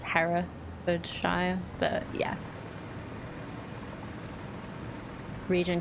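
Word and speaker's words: Herefordshire: to the wash okay her for sh no they a for sh yeah it works less well if you actually say it properly it's Hera shy but yeah region called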